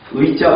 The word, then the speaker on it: 의자: 1번, 2번, 3번, 4번, 5번, 6번 의자 발음하는 거, 꽃들은 의자로 원칙을 한다. 의자가 애자로 발음하기도 하고 이자로 발음하는데 꽃들은 항상 의자로 발음을 한다.